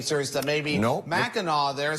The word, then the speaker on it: Mackinac: Obviously, no weird name series that maybe Mackinac there. Some people sometimes call it Mackinac because there's a C on some of the back. But I think the C is silent if I recall correctly.